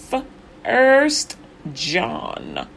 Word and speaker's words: 1 John: So it's the 1 John is number 62 in the 66 books of the Bible, and you pronounce it just the way I just said, 1 John.